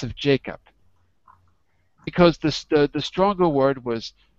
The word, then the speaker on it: Jacob: And in the second, how many syllables? Two. Two. Which is the stress? Always the first? The first.